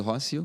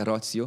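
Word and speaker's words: Rocío: O nome dela, eu pronuncio Rócio, mas é Rócio, porque tem a pronunciação no final no espanhol.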